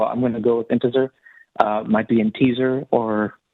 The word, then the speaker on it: Intezer: i think it's pronounced integer it's it's like the word integer but there's a z instead of a g so i'm going to go with integer might be in teaser